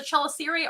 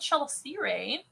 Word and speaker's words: chelicerae: Those are called chelicerae. Or chelicerae, however you want to pronounce that. I've heard both ways. I say chelicerae.